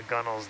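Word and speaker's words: gunwale: is that at uh the gunnel is like the uh it's it's along the deck Edge um and it's actually gun whale but it's just over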